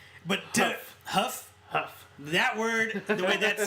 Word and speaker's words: Hough: But Huff. That word, the way that's spelled, that's ridiculous.